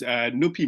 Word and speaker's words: Nupi: Yep, so my name is Nupi, pronounced like Snoopy without the S.